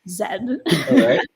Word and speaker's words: zed: I mean that generation Zed because I'm Canadian that's pronounced Zed also known as Z Generation z um and